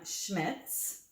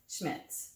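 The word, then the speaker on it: Schmidt's: process so the one i use is from schmitz that's how you say it schmitz schmitz yes i have seen that okay uh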